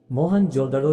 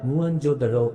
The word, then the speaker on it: मोहनजोदड़ो: मोहनजोदड़ो शब्द का सही उच्चारण है मुअनजोदड़ो है।